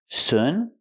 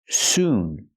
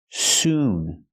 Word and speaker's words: soon: The word is pronounced soon. We have to use a long oo sound like moon. Soon. Noon. It's the long oo sound. Not like good and book. Not soon, but soon.